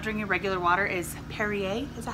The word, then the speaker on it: Perrier: if I'm not during your regular water is Perrier this is how you say it I get